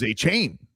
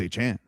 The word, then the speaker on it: Achane: Yeah, and there's also now already a famous Achane who, remember, we all thought was Achane, and then he goes, "No, it's Achane."